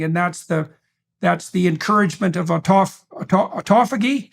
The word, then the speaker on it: autophagy: And then there's a separate set of benefits that go along with the keto diet / fasting, and that's the encouragement of autophagy.